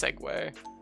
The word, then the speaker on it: segue: that at a heartbeat over the moon it's pronounced segway this is said all the time like a